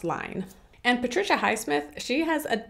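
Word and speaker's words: Lyne: was directed by adrian lin or line i keep wanting to say lin but i believe it's pronounced line and patricia highsmith she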